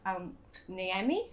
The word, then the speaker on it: Al Niaimi: So first of all, I'd like to welcome Professor Firas Al Niaimi, who told me his name rhymes with Miami, so I should have got that.